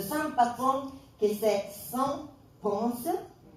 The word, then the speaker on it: Ponce: L'église, après, j'ai découvert que vous avez le saint patron, que c'est Saint Ponce. Moi, je disais pont, et puis elle m'a dit non, la S ici, on la prononce.